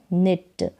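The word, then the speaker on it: knit: सेट व इट विट यहां पर के और एन जब साथ में आ जाता है तो के साइलेंट रहता है के का उच्चारण नहीं होता तो न इट निट क्व इट क्विट हो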